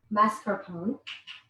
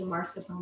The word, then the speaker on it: mascarpone: a time of mask mascarpone i always say it wrong i would say marscapone but it's a masculine so you can do mascarpone you can do ricotta